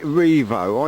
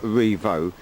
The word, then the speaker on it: Rievaulx: that cottage backs onto I'm gonna call it Revo I think that's how it's pronounced but this village is called Revo the village of Revo I suppose I'm pronouncing